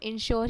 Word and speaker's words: insure: अब बात करते हैं इंश्योर की, तो INSURE को भी हम इंश्योर ही प्रोनाउंस करते हैं, बट इसका मतलब होता है to provide compensation if a person dies और प्रॉपरली इज़ डैमेज।